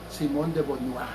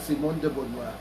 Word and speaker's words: Simone de Beauvoir: Y este señor, Jean-Paul Sartre, ya murió, pues, y su pareja, que se llama Simone de Beauvoir, o así, algo así se pronuncia en francés, ¿verdad? Simone de Beauvoir, ¿verdad?